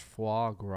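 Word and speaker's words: foie gras: The word you reading is pronounced fu gr.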